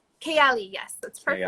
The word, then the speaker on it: Kayali: Kayali? Kayali, yes, that's perfect. Kayali.